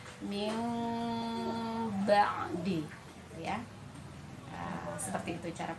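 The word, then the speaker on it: مِنْ بَعْدِ: Jadi dibacanya min ba'di ya. Jadi kita usahakan begitu ya, cara pembacaannya adalah tadi bibir tidak rapat sempurna gitu dan ditahan tadi ya, min ba'di gitu ya.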